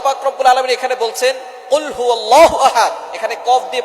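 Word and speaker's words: قُلْ: আল্লাহ পাক রাব্বুল আলামন এখানে বলছেন কুলহু আল্লাহু আহাদ। এখানে কফ দিয়ে পড়ছেন কিন্তু অনেকেই ভুল করে উচ্চারণ সঠিক না হওয়ার কারণে তারা পরে কাফ দিয়ে। কুলহু আল্লাহ।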